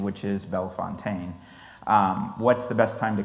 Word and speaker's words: Bellefontaine: First thing people ask me all the time, beyond the proper pronunciation, which is Bellefontaine, what's the best time to come to the cemetery?